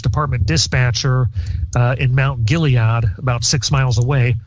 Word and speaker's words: Gilead: dispatcher uh in Mount Gilead about six miles away hope I pronounced that correctly it's gillad but that's okay Gilead okay uh had eventually